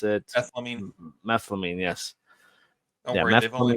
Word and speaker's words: methylamine: that thing they needed what how do you pronounce it methine methylamine yes don't worry they've only been doing it